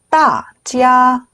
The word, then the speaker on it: 大家: 따지야, 따지야. 네, 하오를 붙이실 건데, 자, 여기서 가장 중요한 점은 찌아가 일성이에요. 일성은 길고 평평하게 발음을 하셔야 돼요. 그래서 중간에 꼈다고 해서 흔들리시면 안 되고 길고 평평하게 해주셔야 됩니다.